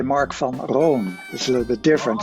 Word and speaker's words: Marc van Roon: if you in the Netherlands they would say mark from Ron is a little bit different so there's variation